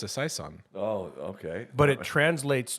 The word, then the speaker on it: Saison: think oh it's a Saison oh okay but it translates to season so yes say son oh that sounds like season when you say it like